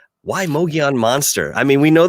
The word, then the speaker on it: Mogollon: Mogollon, Mogollon, Mongolian.